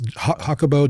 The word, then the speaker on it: Jacobo: It's it's Grimberg Zilber, but it's Hakabo. J A C O B O G R I N B E R G.